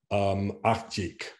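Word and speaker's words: աղջիկ: That first syllable, it's actually the letter is g, but it becomes ch because the d that follows is unvoiced. So it becomes akjik.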